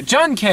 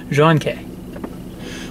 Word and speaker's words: Jun. K: just because it bugs you Yong Jun K John K that's how I say that that is how you say it room case pronounced John Kay what's who cares say - I like I'm